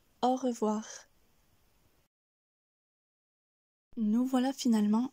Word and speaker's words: au revoir: le deuxième mot revoir ce qui est intéressant ici c'est que l'on commence et que l'on termine par le son r re voir avec cru le son est stable puis nous avons voir où la voix monte heureux voir on dira donc au revoir nous voilà finalement à